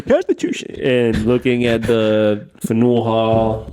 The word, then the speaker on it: Faneuil: No, it's Faneuil.